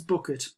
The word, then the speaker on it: Bucket: definitely not portion a surname is bucket but she pronounces it bouquet and she answers the